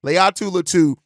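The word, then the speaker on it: Laiatu Latu: far is Jared ver and uh uh Le Leu latu said it right that time leat lau and so these are both guys that I've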